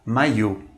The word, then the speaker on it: maillot: E para finalizar, a palavra maillot, que significa camiseta ou qualquer vestimenta que te deixe à vontade. Observe novamente, o duplo L está após a vogal I. Não se pronuncia esse duplo L.